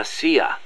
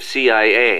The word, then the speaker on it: CIA: Around here they say La CIA instead of CIA, huh? Nothing strange about it. That's how it's pronounced when you read it in Spanish.